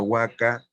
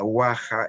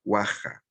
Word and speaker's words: huaca: Entonces Garcilaso comienza a explicar y dice, en primer lugar, la palabra huaca que usan los españoles se pronuncia guaja en la forma original, guaja, con sonido velar, guaja, ¿no?